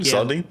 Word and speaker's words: Saladin: For people that are asking, uh, the book was written by I'm probably going to mispronounce his name. Uh, Saladine Ahmed. Is it Seline? Saladine.